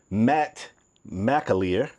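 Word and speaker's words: Matt McAlear: For those that don't know, Dodge new CEO Matt Mleier.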